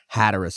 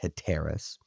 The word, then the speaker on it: Hatteras: corrected me on that which I appreciate its Hatteras Island or Hatteras Inlet I was pronouncing it head terrace but when these men took a break on